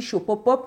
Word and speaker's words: Shopopop: Shopopop, ça s'écrit S-H-O-P-O-P-O-P.